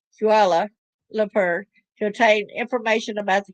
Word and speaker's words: Kuala Lumpur: I said it right a while ago, Kuala Lumpur, to obtain information about